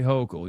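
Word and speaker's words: Hochul: Say Hocal. You're saying it wrong.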